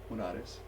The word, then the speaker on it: Monares: How do you pronounce it? Monares.